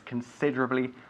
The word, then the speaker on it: considerably: Tienes que enfatizar el dra, considerably. No, la I, pero La I perdemos la I. desaparece. Eso es, considerably, okay?